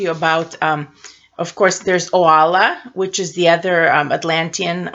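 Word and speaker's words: Oalla: to talk to you about of course there's Ola which is the other Atlantean one of the fabulous for the Astra diamond so Lola and her last name is Kay Getty K Gary Ola Kae Gary now the word itself Astra diamond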